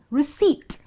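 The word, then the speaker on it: receipt: यही फर्क है कि यहां पर पी जो है वो साइलेंट है इसीलिए इस वर्ड को आप प्रोनाउंस करेंगे एज रिसीप्ट तो अगर आपको यह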